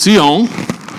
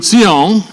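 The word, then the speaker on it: ציון: Okay, and saying to Zion, there you go, there's the spelling for transliteration. It's actually TS, like in Hebrew, but it's pronounced like the TS on the word, into the word nuts.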